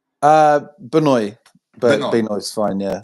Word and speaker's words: Benoy: Is it how you pronounce it, Benoy? Benoy, but Benoy.